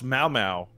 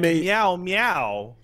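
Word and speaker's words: Mao Mao: Mau Mau. Okay. Not like meow meow.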